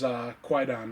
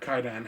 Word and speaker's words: Kwaidan: I have to say probably my all-time favorite foreign horror film is Kwaidan, or Kaidan, however you want to pronounce it, from Japan.